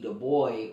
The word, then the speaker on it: Du Bois: vote uh by w.e.b du bois or dubois uh depending on how you pronounce it but they they